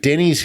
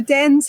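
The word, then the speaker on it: Dennes: it denny's hill or dennis hill that what's the pronunciation on that walk so close on both friends you just miss out that nd when you're saying it just dense so dense hill and den's point there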